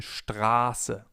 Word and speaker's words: Straße: If we have a sharp S, the vowel sound before the S is long. For example, in Straße, Straße, or ich heiße, ich heiße. The vowel or diphthong in this case is pronounced long, Straße.